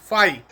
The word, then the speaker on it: फाई: तो electric flux जो physical quantity है उसे हम इस सिंबल से डिनोट करते हैं जिसे हम फाई प्रोनाउंस करते हैं। फाई और इसका फार्मूला हमने इजाद कर ही लिया है।